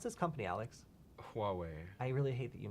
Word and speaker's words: Huawei: uh and then finally um Canada is Banning pronounce this company Alex Huawei I really hate that you nailed it uh